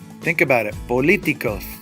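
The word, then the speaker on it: político: it follows the rule politico think about it politico's three syllables back I don't need to think about it it automatically does Politico Politico Bandera Bandera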